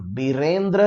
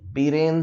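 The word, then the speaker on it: Biren: एन बीरेन, बीरेंद्र नहीं, बीरेन Singh, right.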